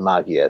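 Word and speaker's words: Maggia: the the Mafia the magia sounds about right so that's yeah I thought you should be pronounced similar to Mafia just with G's okay yeah exactly um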